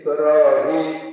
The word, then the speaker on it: Ibrahim: ya ada yang tidak tetapi cara bacanya sama J Ibrahim panjang Ibrahim panjang itu Ibrahim jadi ini unik kalau